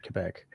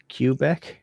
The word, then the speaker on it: Quebec: French like montrealers uh use one of two uh pronunciations for the province of Quebec uh really old schoolers like guys who used to work you know out in the login Mills and stuff would have said Quebec um but there's also cubec because of the QE I guess that's a q but yeah well the